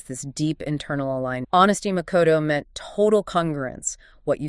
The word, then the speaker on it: Makoto: Makoto, pronounced makoto.